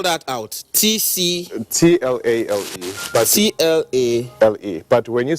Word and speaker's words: Tlale: But T-L-A... L-E. But when you spell it, when you pronounce Tlale. it, you pronounce it with a C. Okay, it's Tlale.